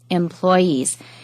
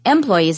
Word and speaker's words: employees: demand and note that employees can also be stressed on the first syllable employees uh sorry the second syllable employees employees is wrong so the second syllable or the third syllable can be stressed employees employees usually uh